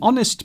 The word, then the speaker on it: honest: So yes, an honest man is honest, an honest, because the H is not pronounced.